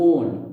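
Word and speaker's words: -one: अजीब है, लिखते वन है, प्रोनाउंसिएट वन नहीं करते, प्रोनाउंसिएट करते ओन, ओन ऐसे, हिंदी वाला ओन, ऑन जैसा कुछ ओन।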